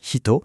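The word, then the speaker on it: ひと: On enchaîne avec un autre kanji essentiel, shito qu'on prononce hito et qui veut dire personne.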